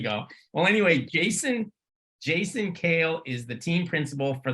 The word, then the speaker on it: Kehl: uh well anyway Jason kale and it's also cool because he let us know that it's pronounce Kale like the salad I wish my name